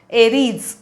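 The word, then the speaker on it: Aries: मेष याच अर्थी एरीज एरीज उच्चार बघा इथे एरीज झ अर्धा अर्धवट पाय मुडलेला एरीज आणि आता एरीज ही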